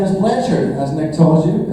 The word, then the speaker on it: Blanchard: My last name is Blanchard, as Nick told you. It's a French name, so it's actually supposed to be pronounced Blanchard.